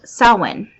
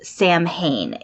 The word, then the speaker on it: Samhain: and Celts today and it is called sulwon now you may have seen this word written places as the original name quote-unquote of Halloween it looks like it says Samhain it's s a.m.